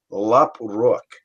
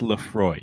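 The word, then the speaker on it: Laphroaig: I am drinking and I'm gonna horribly mispronounce it uh Lop Rook l a p h r o a i c which is very py and I believe it's Lefroy my father did like scotch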